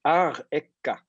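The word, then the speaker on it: אַרְאֶךָּ: Donc, la deuxième lettre, c'est un resh. Et la quatrième lettre, c'est un kaf, qui a un dagesh dedans. Donc, il faut le prononcer comme un que. Et il a un a après. Ar ekka.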